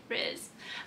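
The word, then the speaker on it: Rhys: to say the name correctly feyre and vision riz um but a lot of the videos actually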